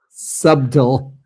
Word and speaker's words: subtle: subtle, you know, whereas Donald Trump pronounces the B and subtle. So, it's subtle.